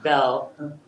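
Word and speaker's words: Beall: So Senator Bell, I do the same thing, Andy. It's spelled B-E-A-L-L, but he pronounces Bell.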